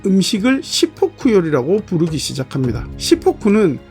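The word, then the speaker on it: しっぽく: 시포쿠는 탁복이라는 말의 일본식 발음인데 탁복이란 명나라 때 중국 한족들이 사용한 입식 사각형 식탁의 이름이었습니다.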